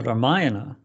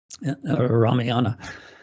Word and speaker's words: Ramayana: in the in the ramayana you know i just wrote this book the hanuman story for ramdas which is from the ramayana ramiana in the ramayana that's how people pronounce it in the ramayana it's